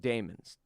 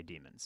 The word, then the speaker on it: daemon: Minnie Wolverine they're called Damon's deem it demons is what it sounds like when the British say it but it's spelled today